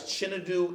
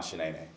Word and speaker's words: Chinedu: Oh, hands down, Shanae. They said Shanae. They just looked at it. Shanae. How did they get that from that?